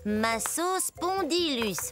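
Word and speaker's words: Massospondylus: salut je suis un masseus spondylus ça se prononce comme ça ma sauce spondylus je pensais au numéro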